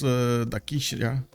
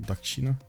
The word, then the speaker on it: Dakshina: Rhodes does house Dakishna. Anyway, Dakshina, actually, I think it's pronounced Dakshina.